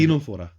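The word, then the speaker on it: Ctenophora: टीनोफोरा। अच्छा टीनो, अच्छा इसमें सी साइलेंट है।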